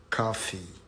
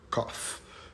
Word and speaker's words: coffee: of the word coffee so coffee is not cough this is a cough and the one you drank the one you drank is coffee coffee and it's not coffee okay coffee the first syllable is distressed one